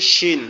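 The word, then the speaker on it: ش: শিনটা হচ্ছে আমাদের আহ, জিহ্বার মধ্যকান উপরের তালুর সঙ্গে লাগবে, তো এটা তখন লাগানো সম্ভব হবে যখন আমরা দুই দাঁত একসাথে লাগিয়ে রাখবো, যেমন শিন, শিন, শিন, শিন, শিন, শিন, শিন।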